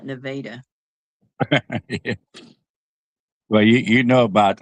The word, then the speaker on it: Nevada: Uh it's spelled like the state of Nevada, but they call it Nevada.